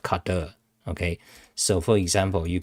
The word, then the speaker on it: cdr: You pronounce it, different people pronounce it differently. I just call it car and cadre, okay.